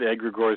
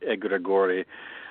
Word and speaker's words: egregore: Well, we just go with egregor because that's the easiest, but it is Greek, so it should be more like egregor uh or egregor, but you know, egregor is fine.